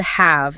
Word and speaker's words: have: The full word have is almost never pronounced. It reduces completely to a mere schwa vowel followed by the V sound. So it becomes the EV sound.